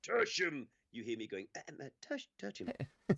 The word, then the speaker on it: Tertium: Is that Tertium in the background, Michael? What? Where? Are you on Tertium? Sorry, you've embarrassed yourself. It's pronounced tertium.